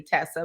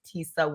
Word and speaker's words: Tesa: if you like because some people don't know the pronunciation they'll say Tessa but it's Tisa yeah I like I